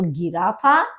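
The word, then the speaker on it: Giraffe: है जिराफ और जबक जर्मन में जी को ग बोला जाता है तो गिराफ और जिराफ आफा आफा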